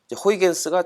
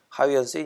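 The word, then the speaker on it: Huygens: 호이겐스가 처음 그 토성의 고리를 발견한 네덜란드의 그 천문학자 하위언스의 이제 미국식 발음이라고 이제 말씀드렸던 것처럼, 아직 뭐 기억하시겠죠?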